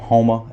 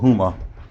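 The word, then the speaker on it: Houma: weird name and there a swn called hom h o u ma a that's our next closest town a lot of people call it Huma cuz they they don't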